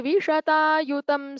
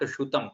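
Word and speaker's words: विशतायुतम्: Second line, it is not Shutam, it is Vishata Yutam. Yutam only, not Shutam.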